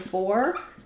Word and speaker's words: for: We also do this for the word for. If I'm saying it's for you, typically how we pronounce that in connected speech is with an rather than an or. It's for you, it's for fun, it's for Saturday.